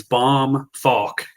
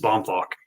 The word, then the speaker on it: Bohmfalk: a tough one it's bomb faul bomb F I always tell people like a bomb that you drop and then walk Rhyme or faul just rhymes with walk w k FK because